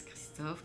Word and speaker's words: Christophe: Donc, nous avons aujourd'hui avec nous Christophe. C'est un nom très très français, je pense. Christophe, comme le chanteur Christophe.